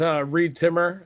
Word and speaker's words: Reed Timmer: They can just find me as Reed Timmer on social media. Rhymes with weed trimmer, so it's easy. Reed Timmer USA on Facebook, though.